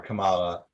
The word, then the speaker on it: Kamala: KH Kamala um or Kamala KH um isn't it is that a Kamala Khan yeah because it's not like the it's not like the vice president it's pronounced different no yeah that's they